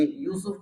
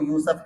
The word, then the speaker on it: یوسف: کے ساتھ نام ادا۔ یہ یوسف کو یوسف کہتے ہیں، یوسف، صحیح ہے، پنجابی تلفظ میں اس کو یوسف کہتے ہیں، صحیح ہے، تو صحیح تلفظ کے ساتھ وہ نام کی ادائیگی بھی کرنی چاہیے۔ حضرت یوسف علیہ السلام،